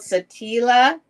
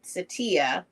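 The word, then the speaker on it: Saltillo: a one of these they're called Satilla and well Satya but the two L's are pronounced like a y at the bottom is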